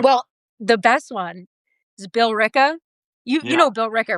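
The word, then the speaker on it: Billerica: yeah, we'd have to drive through somewhere called Lyrica. I was like, Lyrica? What is that? It sounds like a depression medication they would. I was going to say, what are the side effects? Yeah. So then he's showing me and I go, oh, you mean Bill Ricca? He was like, there's no way it's said like that.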